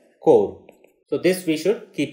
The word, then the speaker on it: corps: So this word is core commander level talks, and this is spelled as CORPS, but it is pronounced as core.